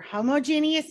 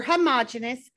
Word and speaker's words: homogeneous: two types of mixtures there are homogeneous mixtures or homogeneous those are both correct pronunciations of that word either way you say it it is correct homogeneous or homogeneous and